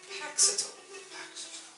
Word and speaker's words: Paxitol: Paxitol. How do you spell that? Like you said it. Like it sounds.